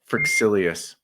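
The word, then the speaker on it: Fryxelius: I think it's pronounced Frixilius.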